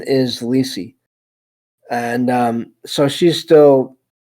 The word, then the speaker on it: Lisey: right about this looks like um the pr pronunciation is ly and um so she's still even after all